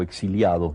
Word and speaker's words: exiliado: un pequeño aparte eh yo nunca me consideré un exilado o exiliado nunca he sabido Cómo se dice se dice de las dos maneras por lo visto tal vez yo digo exilado eh nunca me consideré